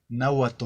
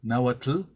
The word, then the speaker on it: náhuatl: la televisión cuando uno una persona de españa dice una palabra anáhuac y en lugar de decir en náhuatl dice náhuatl all on a boat el porque no saben pronunciar la entonces en la manera que yo lo pronunció náhuatl se les hace igual a los nuevos trastos se les hace igual de incorrecto entonces ese tipo de